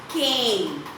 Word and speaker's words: cane: Here can, it can becomes cane, cane.